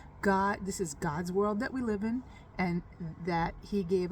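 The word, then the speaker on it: לי: And another thing that I think it represents is in this word vayashlichem, it's li, it's a lamed that says, pronounced li, which is to me, meaning that we are God's people and he is our God.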